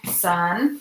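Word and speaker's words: 三: the next one how you say that number son yes what sir okay keep going what's that one so II our son sir ooh not what I'm hearing new director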